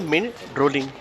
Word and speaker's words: Mindrolling: इतिहास और उत्पत्ति तिब्बत से जुड़ाव माइंड रोलिंग तिब्बती उच्चारण में मिन रोलिंग का अर्थ होता है